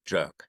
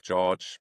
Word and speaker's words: Joerg: The German version would be Jük, but uh everything goes as long as it is not jerk. No. So, it's Jük George, something like that.